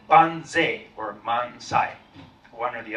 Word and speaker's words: banzai: So it was Toyama Masakazu who suggested it be pronounced banzai.